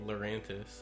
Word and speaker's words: Lurantis: Pokemon yeah so then lurantis is definitely lurantis I I like um like mantis yeah you know so it's